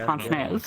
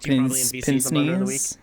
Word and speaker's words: Pon: On the nose is called Pon. Yeah, I had no idea that's how you're supposed to pronounce it. I thought it was like pins.